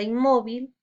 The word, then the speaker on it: inmóvil: Tenemos como ejemplo la palabra inmóvil, la sílaba mo lleva tilde.